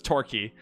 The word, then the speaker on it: Torquay: Torquay, is that how you say? I know that's how you say it, like key, but I don't know if that's... Do they call themselves Torquay? No, it's Torquay.